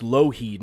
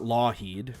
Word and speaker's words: Lougheed: Yes, for all the Albertans out there, it's pronounced Lougheed, not Lawheed.